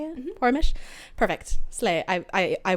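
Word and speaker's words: Poromish: unquote porish unrest that's how you say it porish perfect slay I I I won that Violet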